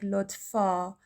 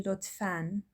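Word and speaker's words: لطفاً: So the spelling looks like lotfa, but it's actually lotfan.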